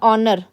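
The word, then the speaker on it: honour: या ऑनर, इसको आप हॉनर नहीं पढ़ते, ऑनर पढ़ते हो, तो यहाँ पर भी एच क्या साइलेंट है, तो ये एन ऑनर होगा, एन ऑनरेबल मैन होता है।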